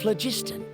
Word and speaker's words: phlogiston: a high concentration of phlogiston. My research indicates that the Spirit Way was originally a natural phenomenon caused by the flow of phlogiston. Phlogiston, that's how you pronounce the word.